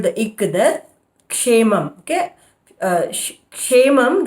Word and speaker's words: क्षेमं: Kshemam, the first syllable is always k, so you have to hold the ik.